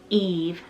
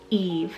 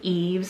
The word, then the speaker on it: Yves: Y is the name Eve, spelled Y-V-E-S, Eve. Or you can do Eves, a lot of people pronounce it like, but the proper way is Eve, and it's a French originated name meaning you would.